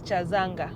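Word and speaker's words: Kyazanga: foreign apparently any pronunciation of k-y-a is not Kia it is cha so it is chazanga this place sound has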